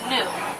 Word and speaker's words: gnu: White bearded wildebeests they're also known as New it's spelled gnu because they actually make